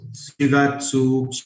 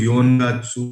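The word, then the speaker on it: 四月: In this month, Shigatsu, Shigatsu, and Kugatsu, these are specific pronunciation. ये change नहीं होते. We never use Yongatsu, Gatsu और Kyugatsu. अगर आप ये यूज करते हो और आपको कोई पढ़ाता है ये, तो दिस इज रॉन्ग.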